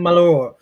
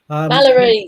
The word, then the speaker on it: Mallory: Right, and this week we got Nathan Malloy. Mallory, say it right for God's Yeah, sake.